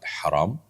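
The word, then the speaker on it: حرام: বড় হা ছোট হার, উত্তর হলো না, এই বর্ণের মধ্যে কোনো পার্থক্য নেই, দুইটাই বড় হা, অর্থাৎ হারাম কণ্ঠনালী থেকে যেটিকে আমরা উচ্চারণ করি সেই হাই একটাই হা, বর্ণ একটাই, কিন্তু অর্থ দুইটা।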